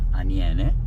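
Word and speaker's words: Aniene: this other river which is in my area anen I'm going to spell it for you a n i e n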